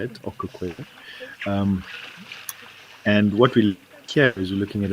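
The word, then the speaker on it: Okaukuejo: Kilometers west across 3 countries and are now in Namibia's Etosha National Park at Okukweyo, sorry, that's how you say it, Okukweyo.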